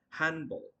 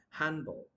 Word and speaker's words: handball: have to pronounce like handball D will not be pronounced still okay handball and same goes to